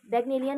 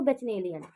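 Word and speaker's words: Bacchanalian: अब देखो, जब मैंने पढ़ा था ना तो मुझे इसकी प्रोनाउंसिएशन नहीं आई, तो मैंने पढ़ा इसको बेचनेलियन, ठीक है, बचनेलियन, ठीक है, मजाक मत उड़ाना, बेचनेलियन पढ़ा।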